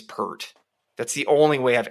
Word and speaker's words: Peart: it appeared I'm like I swear Rush drummer guy is pert that's the only way